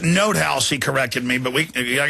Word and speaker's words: Nothaus: By the way, it's pronounced Note House. He corrected me, but I guess you can call it Nut House if you want.